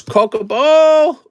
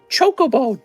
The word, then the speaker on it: Chocobo: we don't need to here's Coco ball umaro though is legendary all right it's pronounced Chocobo don't you know anything all right now we do